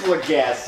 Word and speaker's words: Lagasse: It is Lagasse. He's gassy because of all the food he eats.